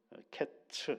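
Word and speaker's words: קֵץ: 그래서 끝과 여름과일 광줄이 하나가 어떻게에 연결이 되느냐라고 할 때 어제 이제 그런 말씀을 드 발음 때문에 그렇다라고 말씀을 드렸죠. 여름과일 한 광주에는 히브리어로는 카이츠라고 돼 있고 끝이라는 말은 캐츠 이렇게 돼 있어요.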